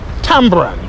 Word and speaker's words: tamarind: Most people may call it tamarind because that's how the word is spelt. But based on our upbringing, our forefathers may not have been that literate, and they ended up calling it tambourine, and that's the common